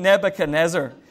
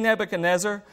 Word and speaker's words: Nebuchadnezzar: it it and no that was hoping to pronounce his name king nebuchadnezzar there nearly said it right the first time